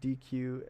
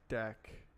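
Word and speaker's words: deque: hard to read oh people pronounce DQ as DQ when it should pronounced as deck I don't interact with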